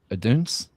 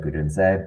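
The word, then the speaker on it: Odunze: Oduns? I think you the pronounced goalkeeper. the E, so I think it would be like Udunse, but close enough.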